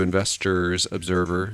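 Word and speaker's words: InvestorsObserver: we go over to investors observer which i've been saying their name wrong i've been dropping the s i don't know why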